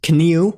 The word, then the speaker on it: kniu: Unlike English, it must be pronounced word initially when before consonants like N. Examples of words with this sound include kniu, meaning knee, akars, meaning field, and ik, meaning eye.